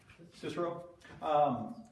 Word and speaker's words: Cicero: Somebody pronounce it for Cicero? Me. Cicero.